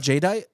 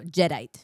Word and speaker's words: Jadeite: It's not Jadeite. No, Jedite. Like a Jedi, but Jedite.